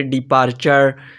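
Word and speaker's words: departure: चे की आवाज आएगी अगर टी के बाद यू आर ई होगा तो आवाज चे की आएगी जैसे मसलन देखते हैं जी जैसे डिपार्चर कैप्चर सिग्नेचर एडवेंचर तो यह तो था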